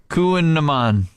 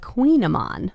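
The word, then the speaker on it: Kouign-amann: and I'd love for you to try and pronounce it. The Kuhnaman. All right. That was pretty close. Kuhnaman. It's the Queenamon.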